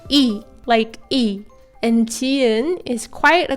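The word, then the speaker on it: 이: And this is the korean singer IU's real name and it's read, Yi is often translated as Lee in English but in Korean we read it Yi.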